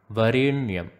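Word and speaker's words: वरेण्यम्: The tongue should be touching the roof of the mouth when you are pronouncing the N in Varenyam. Varenyam.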